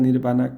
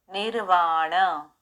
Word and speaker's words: nirvana: la rama del budismo Theravada, se interpreta el nirvana como la cesación del ciclo de renacimientos y el logro de un estado más allá del sufrimiento condicionado.